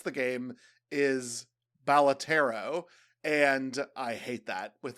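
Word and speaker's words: Balatro: I'm scared because I have learned that the proper way to pronounce the game is Balotero.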